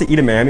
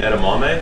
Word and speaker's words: edamame: okay okay yeah we do what I was edaman you mean edamame yeah edamami how do they know what he